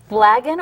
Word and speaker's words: Blagan: Now, looking at your book here, the Blagan or Blagen, how do you pronounce it?